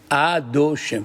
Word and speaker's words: Adoshem: Le nom de Dieu, madame, il s'écrit Yud, Ke, Vav, Ke, et on ne le lit pas comme ça, on lit Adoshem.